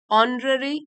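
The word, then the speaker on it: honorary: इनामो से एंड 12 ऑनरी degrees as silent है यहां पर ऑनरी डिग्रीज तो ऑनरी का मतलब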